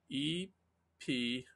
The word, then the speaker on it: epitome: and you typed in e-p-i-t-o-m-e and that word is epitome right in my mind that epitome was spelled with a y and i i i